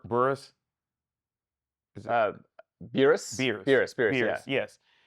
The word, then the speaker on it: Beerus: you say his name B burus is uh beerus beerus beerus beus beus yes um what did